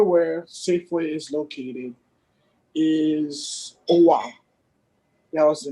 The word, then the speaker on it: Owa: spell that correctly? Is it Owa or Allah? Owa.